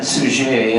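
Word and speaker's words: Suger: Abbott came in place whose name I pronounced as suzier it may have been sujay I understand from my French linguist trends that the final consonant was dropped over time and may have been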